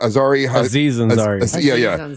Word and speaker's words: Aziz Ansari: Aziz Ansari.